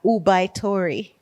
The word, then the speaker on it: ubaitori: one g-a-m-a-n Gammon I don't know how they pronounce this in Japanese but now you guys it's a tongue twister ubaitori so it's all you be oub a i